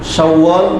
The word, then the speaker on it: شوال: সিফাত আছে শাওয়াল মাসের গুণ হলো আল মুকাররম শাওয়াল আল মুকাররম মানে সম্মানিত শাওয়াল মাস شوال مکرم